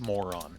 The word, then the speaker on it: Moranon: It's pronounced moron.